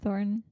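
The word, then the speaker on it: Thornton: Billy Bob thoron thoron Billy Bob thoron the way people say and how it's spelled are slightly different so leaving it there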